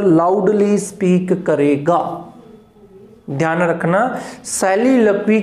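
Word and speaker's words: soliloquy: पहले बात करते हैं सैलिक्वी की, सैलिलक्वी, नॉट ए सोलिक्वी, सोलिलोकी या जो भी प्रोनाउंसिएशन आप बोलते हो, सैलिलक्वी है इसका प्रोनाउंसिएशन।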